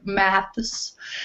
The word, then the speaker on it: math: trouble with the word math well in the US we say math we don't put the S so if that helps